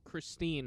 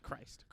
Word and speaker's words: Christine: heard doctor strange and christine christine not christ christ sorry thank you for correcting my pronunciation um are trying to